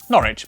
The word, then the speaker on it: Norwich: W at the start of the final syllable is silent. Norwich, Berwick, Southwark.